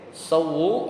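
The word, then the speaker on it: سَوُّوا: oleh Imam e muslim sawu ya sawu sawu ya artinya apa luruskanlah sawu ya basdidil wau jadi dengan tasdid wya jadi sawu sufufakum luruskanlah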